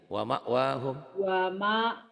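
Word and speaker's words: مأواهم: Wa ma'wahum. Wama bacanya wama ya. Wama nekan sedikit ke hamzah. Wama tapi nekannya lembut. Wama wahum. Wama wahum. Kayak neken ya, kayak neken.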